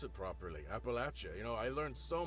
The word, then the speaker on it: Appalachia: and Appalachia even just to know how to pronounce it properly Appalachia you know I learned so much working on